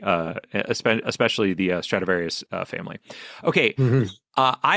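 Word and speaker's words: Stradivarius: Um right, but I think I was saying Stratavinski, uh which which isn't which is nothing. That's nothing. That's that's taking two words and putting them together that two words don't mean anything.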